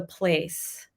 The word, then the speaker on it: Playce: It's called The Place, and place is spelled with a Y in it, so PLAYCE. And what we are trying